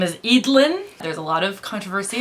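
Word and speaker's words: Eadlyn: and now their oldest uh whose name is idlin there's a lot of controversy on how to pronounce it but we looked it up and it's edlin she's going to have her own selection Y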